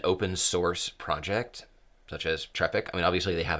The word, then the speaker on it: Traefik: It's easiest to just say traffic, which is fine. But it's like in the word aesthetics. It's not Traefik, it's not Traefik, it's Traefik.